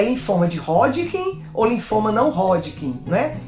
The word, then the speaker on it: Hodgkin: cirurgião inglês chamado Thomas Hodgkin, então o nome dele, o sobrenome dele era esse, Hodgkin, com H. A gente lê como se fosse um R, pronuncia R, mas escreve com H.